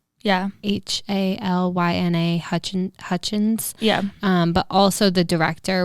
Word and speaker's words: Halyna Hutchins: I don't know how to pronounce it. Helena? Yeah. Halyna Hutchins.